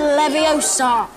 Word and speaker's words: Leviosa: Wingardium Leviosa.